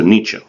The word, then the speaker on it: Nietzsche: and then it's s z CH e so Nietzsche okay it pronounced differently right and Nietzsche in a book called the birth of tragedy